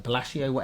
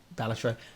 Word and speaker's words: Balatro: We've seen, I can always pronounce it, the Bellagio, the card game. Balatro.